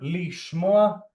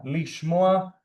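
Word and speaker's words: לִשְׁמֹעַ: But remember, lishmoa, it's one of those rare examples that the prefix to phonetically receives an E sound. But yeah, lishmoa, to hear.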